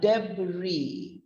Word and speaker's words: debris: it's pronounced as a debris d i deb bree bree it's on the same intonation but then the b r i s takes the form of a b r double e so it's pronounced as